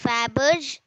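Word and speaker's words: Fabergé: do we pronounce that word it is called faberge how do we pronounce that word it is called faberge i'll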